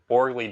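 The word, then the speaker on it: Borgli: Maybe maybe and I think what Borgley does, I believe that's how you pronounce his name, Borgley.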